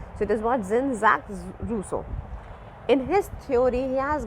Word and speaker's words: Jean-Jacques Rousseau: So J is pronounced as Z in the YouTube channel which I have searched and looked for the pronunciation. So it is what? Jean-Jacques Rousseau.